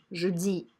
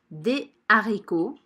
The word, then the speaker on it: haricots: du riz des haricots ici je ne fais pas la liaison jeudi des haricots de la farine comme